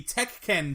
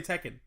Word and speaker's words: Tekken: like what it's like I don't know why he pronounce it that way like just say Tekken it's it's Tekken he had a brain fart like teken yeah what was I